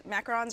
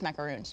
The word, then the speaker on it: macarons: Yeah, they don't look like these macarons are the little cookie sandwiches. Which are these? Yep. I've been saying it wrong my whole life. Well, I've is it always like- called these macaroons.